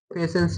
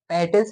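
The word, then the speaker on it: patience: पेशेंस होता है ना पेशेंस लिखते हैं। पैटेंस नहीं पढ़ते। पेशेंस पढ़ते हैं।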